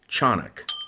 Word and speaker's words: Tiyanak: It's not spelled like it sounds. It's actually spelled Tiyanak, but it's pronounced in Tagalog, Tiyanak.